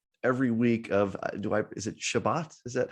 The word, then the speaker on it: Shabbat: But the observance every week of is it Shabbat? Is that how we pronounce it? Yeah. So there's Shabbat, there's Shabbos, there's the Sabbath. They're all the same thing.